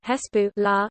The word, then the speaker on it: حزب الله: hezbollah pronounced arabic hespu la literally party of allah